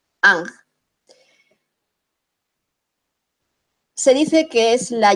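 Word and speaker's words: ankh: vamos a poner el anc esto es muy rápido el anc que en realidad no se escribe a n h sino a n j ang se dice que es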